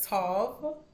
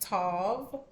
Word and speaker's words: Tav: This is the letter Tav. Okay, it's pronounced Tav or Ta.